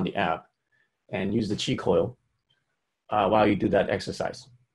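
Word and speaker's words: Qi Coil: And that's spelled Q-I, is the first word, and then coil, C-O-I-L, on your app store.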